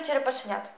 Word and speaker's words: черепашенят: у чотирьох черепашх четверо черепашенят у слові черепашок наголосна А у слові черепашенят наголос на останній склад вивчаємо у чотирьох черепашок